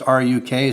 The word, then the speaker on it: RUK: pronounce it some people brown's a truck i pronounced a truck it's ruk so that's what we're going with alright this